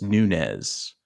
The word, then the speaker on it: Nunez: one and only Freddie Nunez. Freddie Nunez. Did I say your last name right? Yeah, you said it right. I always want to add a new to it, like Nunez, but it's just Nunez.